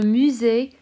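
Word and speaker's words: musée: of times before that pushing that egg over the e gives it an a y pronunciation so le musee the museum okay le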